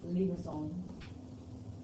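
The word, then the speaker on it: limaçon: There's like a little squiggly above one of the letters, which makes it pronounced as limosome.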